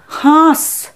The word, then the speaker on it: হাঁস: এরপরে দেখো হয়ে চন্দ্রবিন্দু আকার দন্তস্য, হাঁস। হয় চন্দ্রবিন্দু আকার দন্তস্য হাঁস। এখানে হয়ের উচ্চারণ হবে নাসিক্য।